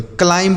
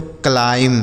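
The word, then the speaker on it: climb: क्लाइंब नहीं पढ़ा जाएगा। क्योंकि अगर एम के साथ बी होता है तो बी साइलेंट होता है।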